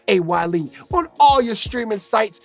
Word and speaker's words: A. Y. Lee: And of course, you know, you got to tune in to my boy A.Y.space pronounced A-Y-Lee, on all your streaming sites.